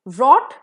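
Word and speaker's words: wrought: too much sugar drinks रॉट बट इट इज़ अ in beginning with W लेकिन pronunciation इसका रॉट ही होगा इसका मतलब है बनाना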